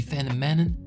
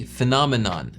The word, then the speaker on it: phenomenon: Phenomenon, il a dit phénomon parce qu'en anglais on dit phénoménon, tu vois. Fen phénoménon. Lui, il a dit phenomanon.